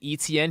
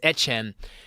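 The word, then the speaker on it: Etienne: I almost said ETN. He has changed his name for those who don't know. And is going by the Creole pronunciation. It is Etchen.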